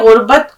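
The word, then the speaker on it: غربت: गरीबी के लेकिन यहां गुरबत से मुराद है परदेश गुरबत अब देखिए इसका उच्चारण बिल्कुल सही आ चाहिए अब आपकी व कबरी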